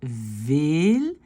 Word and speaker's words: veel: Alors, par contre, quand on a deux E, ou bien syllabe ouverte, ou syllabe ouverte ici, c'est un long E comme dans blé, c'est veel, heel, regen, geven.